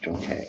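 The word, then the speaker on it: Junk Kay: Everybody pronounce it differently. Now I know. Junkie.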